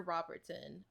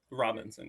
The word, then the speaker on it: Robinson: I know it's Phoebe Brides and Porter Robertson. I I've always that's how you say his name, right? Robinson.